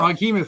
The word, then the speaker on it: Froghemoth: Froghemoth, like behemoth.